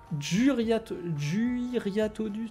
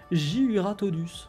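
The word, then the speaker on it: Jyuratodus: Ta cible est cette fois un Juriatodus. Non, attendez. Juratodus. Putain, c'est dur à dire, en fait. Hein. Dès qu'on s'attarde un petit peu pour bien le prononcer. Juratodus.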